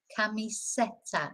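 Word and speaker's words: camiseta: it's e elephante uh one that my students quite often get is the next one kamiseta not kamis it's not an e in Spanish it's an e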